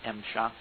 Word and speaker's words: Ernshoff: And it's just 2 syllables, Ernshoff, and so it's not complicated at all.